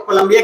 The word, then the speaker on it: Cali: अब कोलंबिया जो आप लिख लिए हैं, तो कोलंबिया के अंदर कुछ कुछ बातें हैं जिसको लिखना बहुत ही नेसेसरी है।